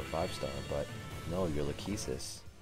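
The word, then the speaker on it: Lachesis: star but no you're lakesis which is apparently the correct way to pronounce it I'm gonna stop right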